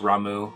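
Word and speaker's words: Ramuh: with Rama final fantasy I guess that supposed to be pronounced Ramu I always said Rama as a kid I have to like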